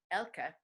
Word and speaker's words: Elke: but it's pretty easy my name is spelled e lk e even though you're pronouncing it correctly Elka so it's L cos